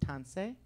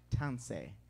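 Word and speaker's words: tansi: do you pronounce that so once again it's pronounced tansei tansei very good all right wasn't this wonderful amen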